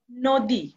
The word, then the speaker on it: নদী: আরেকটি উদাহরণ যদি দেখি নদী ন এর পরে দয় দীর্ঘিকার রয়েছে সেই জন্য এর উচ্চারণ হয়ে গেছে ও এর মত যেমন নদী টা এর উচ্চারণ হয়ে গেল নদী আমরা তাহলে এখানে কি পেলাম